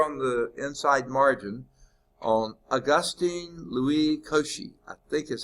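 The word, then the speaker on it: Augustin-Louis Cauchy: little blurb here on the inside margin on Augustine Louie Koshi I think is how you pronounce his name um he was the first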